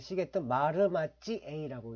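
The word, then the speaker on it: Sighetu Marmației: 그 다음에 바이아마레, 사뚜마레, 시게뚜 마치에이라고 되어 있는 시게뚜 마르마찌에이라고 읽어야 됩니다. 시게뚜 마르마찌에이.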